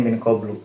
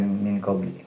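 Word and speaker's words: مِنْ قَبْلُ: Di sini bacanya minqlu bukan minqli ya. Kenapa? Padahal kemasukan min harusnya kan minqbli ya. Karena qblu di sini dia mabni damah ketika mudhaf ilaihnya dibuang.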